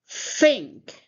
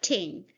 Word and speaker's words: think: Again, think. Can you put your tongue between your teeth and say think? Not think. Think.